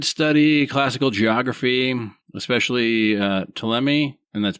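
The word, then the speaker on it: Ptolemy: Uh, he did study classical geography, especially uh, TMI, and that's P T O L E M Y. Not 100% sure how it's pronounced, but probably a lot like pterodactyl. And he said, what's that? Tammy.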